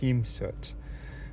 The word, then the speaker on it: Hēmsut: If you have that kind of line over an E, it's a long E sound.